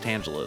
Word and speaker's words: Tangela: I I'm almost positive it's Tangala cuz Tangle, that makes sense. Um, but I I think I've heard it pronounced Tangela as well.